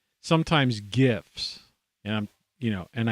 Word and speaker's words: GIF: gov it's dot com it's dot gif it's not jif because jif is a peanut butter and it begins with a j it's not a soft g when you have a get when you have a g right there's certain vowels that have to follow the consonant in order to soften the g that's grade school stuff